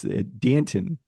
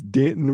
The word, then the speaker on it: Danton: I have oh it's Danton Lynn the son of former NFL head coach Anthony Lynn who chose this name to rhyme with Canton it's Danton rhymes with Canton uh 35th in FBI